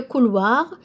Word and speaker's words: couloir: We have le couloir, means the hallway. Le couloir. Couloir, O-I in French is an OI.